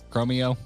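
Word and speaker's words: Chromeo: You seem like a Chromy fan. Man, have you did you ever get into Chrommy? Chrommy. Chromio is how it's pronounced.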